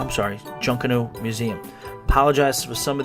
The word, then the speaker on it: Junkanoo: stuff to do and see while you're at juniku ja I'm sorry Junkanoo museum apologize for some of these pronunciations guys try to try best alright so